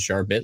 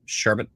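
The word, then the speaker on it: Sharbot: bit like someone said sharp bit late I thought it was sharp sharp sharp sharpet are you supposed to say nice and sharp sherbet um sharp at everybody's saying okay thank you Charlotte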